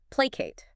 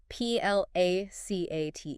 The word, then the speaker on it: placate: Placate. P-L-A-C-A-T-E. P-L-A-cate. 2 syllables, stress on the first.